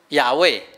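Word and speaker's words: 亚卫: 好，所以后来学者去研究，发现，正确的念法要念成什么？亚卫，所以你有发现无？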